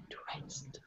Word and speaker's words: dressed: Dressed. Dressed. So at the end of this word, it ends with the letter D, but let's make this D more of a T sound.